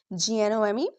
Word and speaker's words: gnome: Examples g n o m e.